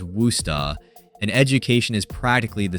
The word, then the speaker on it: Worcester: Welcome to Massachusetts, where the locals somehow pronounce Worcester as Worusta, and education is practically the state religion.